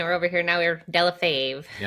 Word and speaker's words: Delle Fave: That's actually the real way to pronounce it, but when my family came to America from Italy, they tried to make it sound better.